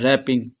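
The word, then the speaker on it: wrapping: डब्ल्यू है तो सही लेकिन वो पढ़ा नहीं जा रहा, आर से स्टार्ट हो रहा है, रैपिंग, ठीक है।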